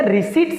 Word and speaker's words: receipts: आप चाहें तो रिसिप्ट्स एंड पेमेंट अकाउंट बोले या रिसीट्स एंड पेमेंट अकाउंट दोनों बोले, क्योंकि अगर हम प्रॉपर ग्रामर को फॉलो करेंगे तो यहां पर पी जो है दैट इज साइलेंट।